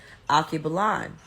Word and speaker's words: Alkebulan: So he or she said, Alkebulan. It's spelled Alkebulan.